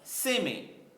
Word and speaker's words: sêmen: Olha lá, sêmen. Qual é a sílaba mais forte? Lógico. A penúltima, tá certo?